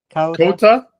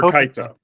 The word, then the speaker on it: Kota: I'm liking Michi, and I'm liking how is his name pronounced? Beginning with a K. Kota or Kaito? Kota, thank you.